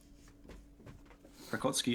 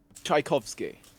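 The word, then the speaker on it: Tchaikovsky: Tchaikovski uh is the correct pronunciation.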